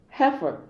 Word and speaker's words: heifer: So say, heifer. If you also observe that A and B, both of them have the same E-I-E-I. But the E-I in A is pronounced as E, so heifer.